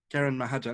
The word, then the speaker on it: Karan Mahajan: S: Oh I wanted to talk to you about The Association of Small Bombs by - can you pronounce the author's name? Karan Mahajan? J: Karan Mahajan.